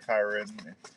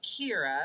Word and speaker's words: Kyra: It's Kira. Kira. Like the song.